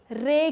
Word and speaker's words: ray: रे की। अर्रे वाला अर्रे नहीं है, ये है रे।